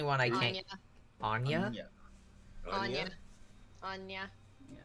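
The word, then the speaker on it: Áine: How do you get that Thought so. pronunciation out of AIN? There's supposed to be an accent on the A, and it's technically the English translation of a Gaelic name.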